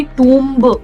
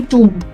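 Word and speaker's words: tomb: This one will not बी टब। It will be टमब।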